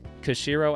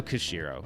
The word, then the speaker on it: Koshiro: Genesis mini is that yohko cuz kashiro I always say his name wrong Yuzo Koshiro Yuzo Koshiro he did the music